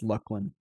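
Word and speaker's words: Luclin: I know they did that with Lucklin, and the official pronunciation is Lucklin.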